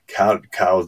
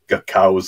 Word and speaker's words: Coues: name on it, a cow's something, some kind of bird. And he says in a footnote that the name is pronounced C-O-W-Z.